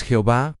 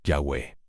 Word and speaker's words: Yahweh: Entonces, si no es Jehová, ¿cuál es la pronunciación correcta? La mayoría de los académicos hoy en día están de acuerdo en que la forma más probable es Yahweh.